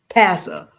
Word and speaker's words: PASA: I mean, we're not talking about it today, but we have a whole PASA, rhymes with massa.